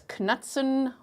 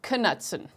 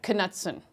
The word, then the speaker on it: Knutson: Now, we would pronounce it in South Africa as Knutson, or even in German it would be like Knutson. But I hear in the USA, the pronunciation is Knutson, like Knutson. So I'm going to do my best to say it the correct way according to how her family says it, okay?